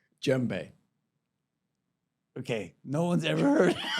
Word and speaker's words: djembe: Djembe. Okay, no one's ever heard. We're learning things. We're All learning right, things. djembe. Djembe. Yes. Djembe, right. You play that. The D is silent.